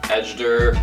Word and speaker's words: Ejder: And last but certainly not least is this Contraband X Ejder or Ejder. I think it's Ejder because Ejder would be the J pronounced like a yo, which is Spanish, but it's not a Spanish brand.